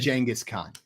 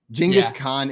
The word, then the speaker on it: Genghis Khan: It's pronounced Genghis Khan. Genghis Khan is how it's pronounced.